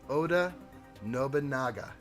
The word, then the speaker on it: Oda Nobunaga: it up and now i'm saying it correctly oda nobunaga i did it right that time and you